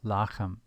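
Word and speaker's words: לחם: Lechem ke Aven. Lechem ke Aven. In case you're wondering about the pronunciation Aven, it is Evan when in pause, just as lechem when in pause becomes lachem.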